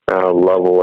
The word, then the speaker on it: Louisville: association in louisville kentucky level i think is how they say it but it's louisville and uh yeah we